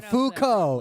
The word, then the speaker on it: Foucault: I don't know how to pronounce. You say Foucault? I don't Foucault.